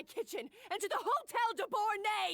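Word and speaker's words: Debord: Right now, you're a disgrace to my kitchen and to the Hotel Debor name. That's how it's pronounced.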